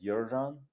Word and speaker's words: Yerzhan: Um, my original name is Yjan, but it's quite tricky to pronounce for, you know, especially for Americans.